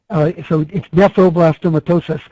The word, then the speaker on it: nephroblastomatosis: Wilms tumor also include nephroblastomosis? Also a great question. So it's nephroblastomatosis, Terry, but it's one of those things you have to like break into its syllables to be able to say.